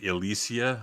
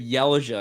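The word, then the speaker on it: Ylesia: those went but i'm not sure i've always pronounced that like elysia i don't know if that's right or not i think that's completely right uh but i i always said yellja because that's how i pronounce it that's completely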